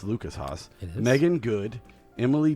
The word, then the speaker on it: Lucas Haas: It's Lucas Haas.